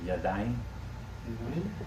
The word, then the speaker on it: yadayim: Hand, or plural is Yadayim. Yadayim. Oh, because of the A there, yeah. Then. Yadayim. Yada means to know. Wait, the accent is on the front, so it's yadan. No, it's at the end.